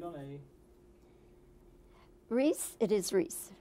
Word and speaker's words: Rhys: that it's going well what kinds of pronunciations do you hear of your name oh i've had you know you name it you name it with an r i read that do